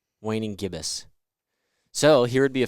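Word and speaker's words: gibbous: and the waying gibbus Gib is it gibas gibbus I said it right the first time waning gibbus so here would be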